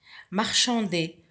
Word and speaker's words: marchand: Marchander, le marchand. Alors, la lettre finale muette, c'est le D, que l'on trouve dans le verbe marchander.